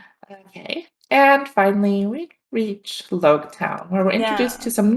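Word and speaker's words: Loguetown: the literal science is like okay it's it's pronounced really it's log town uh it is in prologue as in the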